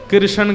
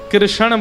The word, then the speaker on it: कृष्ण: ठाकुर जी का नाम लोग अधिकतर कृष्ण शब्द का उच्चारण गलत करते हैं। कई लोग कृष्ण कहते हैं। कई लोग कृष्णा बोलते हैं। कई लोग कृष्ण बोलते हैं। बहुत उच्चारण उसका शुद्ध नहीं कर पाते। शुद्ध उच्चारण कृष्ण जय।